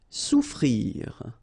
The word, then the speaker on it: souffrir: Souffrir. Okay, so double F is not pronounced. Okay, so souffrir.